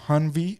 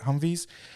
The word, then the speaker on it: Humvees: so there was two hanvi humvees that's how you say it humvees um and like the